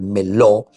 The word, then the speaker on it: meló: Aquí tenemos uno que es el meló, ¿verdad? se pronuncia así el meló, que significa todo lo que es lleno, todo lo que significa totalidad, aquello que está completo.